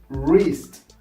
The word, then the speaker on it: wrist: with the letter WR, the letter W, it's not pronounced. For example, instead of right, no, it's not pronounced right or anything like it. You pronounce it right, wrong, road. Instead of greased, no, you pronounce it wrist.